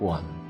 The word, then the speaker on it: 觀: ที่ จ่าย ถู สระ ควัน อ่าน ว่า กวน สามารถ มอง เห็น เป็น